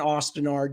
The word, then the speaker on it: Osten Ard: is completely pointless but I say both tinard and Austin Ard depending I I don't have a